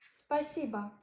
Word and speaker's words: спасибо: Спасибо. Спасибо. It means thank you, pronounced like spa, si, ba.